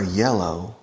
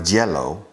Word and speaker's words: yellow: yours you're Spanish people you have problems with the why you convert the Y into an English no you are you are yellow you are Jello jealous gelatina it's something